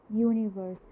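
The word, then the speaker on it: universe: Y consonant की sound कैसी होती है, यूरोपियन, यूनिवर्स।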